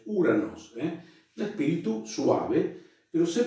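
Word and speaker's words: Οὐρανός: ¿Se acuerdan que dijimos que el diptongo Omicron Y se pronuncia U? Entonces, Uranos, que es un diptongo, el espíritu áspero o suave, en este caso es un espíritu suave, no es Juranos, no, es Uranos, un espíritu suave, pero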